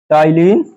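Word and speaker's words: ptyalin: का दूसरा नाम है टाइलिन, टाइलिन amylase, amylase enzyme. T लिखेंगे पर प्रोनाउंस टी से करेंगे, पी शॉर्ट है, पी से लिखेंगे पर प्रोनाउंस करेंगे, वर्ड को प्रोनाउंस करेंगे तो टी से।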